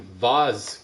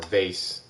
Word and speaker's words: vase: do you think these broken Vaz pieces mean or vase pause vase is the correct pronunciation of that that sound we heard from